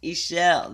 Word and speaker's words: Ishel: the power wow okay pronunciation e shell-ish michelle okay ishel there we go it's like my sister michelle michelle my bell right ishel medicine woman